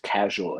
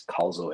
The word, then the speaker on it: causal: to pronounce it right because lots of people when they look at it they say it's casual AI but it's not it's causal AI it's focusing on causality